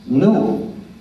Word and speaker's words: GNU: porque según el diccionario la g es muda y la palabra pronuncia como nu es dec nuevo por